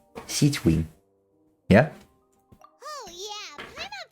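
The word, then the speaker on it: Sigewinne: pretty nice SE wing her name is actually adorable to pronounce like sieg Wing sieg Wing yeah oh yeah my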